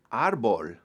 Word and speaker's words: árbol: Tree is árbol, árbol, accent on the first letter.